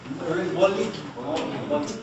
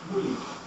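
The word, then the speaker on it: molli: Molly? By the way, just to illustrate what I said earlier about O's and U's, sometimes this is pronounced as what? Muli, rather than Molly.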